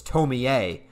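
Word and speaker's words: Tomie: my review of tomi i just pronounced it tomi because it's spelled t-o-m-i-e that just makes sense to me but everyone's saying no it's tommy a tell me a where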